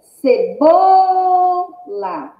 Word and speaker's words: cebola: Ó, cebola. Cebola. Qual é a mais forte? Bó. Bó é o quê? A penúltima sílaba da palavra. Se bó é a penúltima sílaba da palavra, é uma palavra paroxítona.